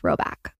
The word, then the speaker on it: Rhoback: Roback also has an entire new women's fall collection.